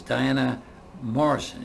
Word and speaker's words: Diana Mohrsen: Burnaby British Columbia and my guest today is Diana Morrison is that what you've pronounced it correctly thanks thank you a few